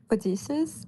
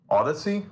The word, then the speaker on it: Odyssey: I mean, I say Odysseus. I mean, how do you pronounce it in the upcoming movie? What movie? The Odysseus. Odyssey?